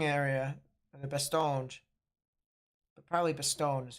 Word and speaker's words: Bastogne: But probably Bastogne is how it's pronounced.